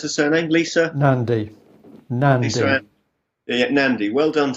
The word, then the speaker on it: Nandy: How do you pronounce her surname? Lisa Nandy.